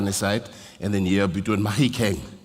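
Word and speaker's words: Mahikeng: It's the monotlas agiri from Marik side and then here between mahikang not mafi kang you know for the white people you say mafi kang it's mahikang agiri barong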